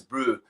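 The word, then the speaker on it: bru: Brew, which is obviously the South African version of bro. Yeah. We spell it B-R-U. Yeah, comes directly from the Afrikaans word broer, which is brother in English.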